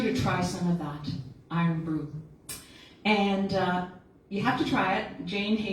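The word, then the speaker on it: Irn-Bru: Iron Brew. You say it like an Iron and brew like a brew.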